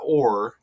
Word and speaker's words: Orr: Orr rhymes with 4 too.